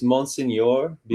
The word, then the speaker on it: Monseigneur Bienvenu: How do you say that? I think it's Monseigneur Bienvenu. Monsignor Bienvenu. Yes. Yes, ding, ding, ding.